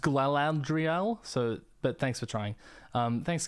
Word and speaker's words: Galadriel: Love your videos, Galadriel. It's actually pronounced Galadriel, but thanks for trying.